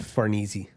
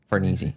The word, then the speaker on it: Farnese: Yeah, but how'd you pronounce it? Farnese. Farnese.